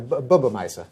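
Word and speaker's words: bubbe meise: You talk about Bubba Misers in your book, right? Yes. That's My Yiddish isn't very good. Am I pronouncing that properly? pretty good. Yeah. Bubba Meise.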